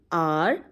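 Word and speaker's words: hour: होता है number one आर एंड आर बच्चों एक आर होता है जिसमें एच यूज होता है लेकिन उसका एच साइलेंट होता है चलिए इनके यूसेज समझते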